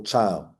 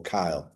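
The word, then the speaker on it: chyle: they should drain off what we call cow which is creamy white fluid or cow okay it's spelled c h y l e but it's cow and these these this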